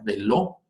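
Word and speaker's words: ולו: Si alcanzan a ver, hay una llamada, como una literal en esta palabra hebrea, que se pronuncia veló, esta palabra hebrea, veló.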